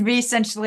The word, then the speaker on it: Vessentially: I said it wrong to begin with. Vessentially. I've always read it as essentially.